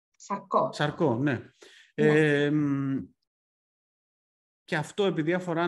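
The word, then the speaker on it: Charcot: Τώρα θα το προφέρω αν είναι λάθος. Περιφερική νευροπάθεια. Νευροπάθεια Σάρκοτ. Σαρκό, ναι.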